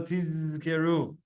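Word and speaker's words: תזכרו: You should distinctly pronounce the zayin shel tizkeru. Everyone, give me a tizkeru. Tizkeru, very good. Shelo lishtama tishkeru or tiskeru. Same thing. He says, so that it doesn't sound like the word tiskeru, which means you want to get reward.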